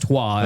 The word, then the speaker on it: Troyes: Yeah, but pronounced Trois, if I'm correct.